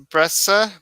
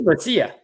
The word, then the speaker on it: Brescia: Breccia? How do you pronounce that? I think it's Brescia. Brescia? Yeah. I've heard it pronounced Brescia, though.